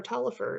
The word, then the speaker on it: Taliaferro: Just remember, Tolliver is spelled Taliaferro.